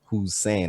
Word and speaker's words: Whosane: as a right it's you know who's saying i used to spell it or write it out as like a question who's saying right so i'm gonna